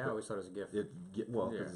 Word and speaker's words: GIF: There'll be a little gif, as it's properly pronounced there. Is it really? Yeah, it's gif. It's not gif. It's actually, both are acceptable, but the guy who invented it, he's like, no, it's gif.